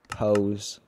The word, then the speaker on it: pose: Pose is a very weird word. P-O-S-E. Pose. I I feel like it should see pose. Pose. It almost sounds like it should be spelled with a Z, not an S, but I don't know.